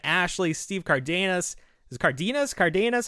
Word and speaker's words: Cardenas: Is it Cardenas? Cardenas? How do you pronounce Rocky's name? Cardenas, yeah. Cardenas.